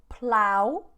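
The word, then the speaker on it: plough: experienced a serious drought the next one is plow plow a plow you can see in the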